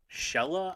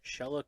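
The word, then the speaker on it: Chela: from A lady called it's shella I believe is how you pronounce it shella Cooley it's c-h-e-l-a -c-o-o-l-e-y she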